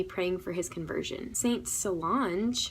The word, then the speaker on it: Solange: Saint Solange, pronounced like Beyonce's sister, Solange Knowles, she took a personal vow of chastity.